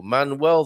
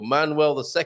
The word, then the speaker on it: Manuel: last king of portugal manuel ii was born uh manel i think it's pronounced mannell more so than manuel isn't it manuel mannell he came